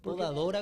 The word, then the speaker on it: podadora: Pero podeadora no se dice, maestro. Podadora.